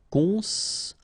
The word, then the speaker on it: construire: Construire, okay? O-N together, nasal, construire.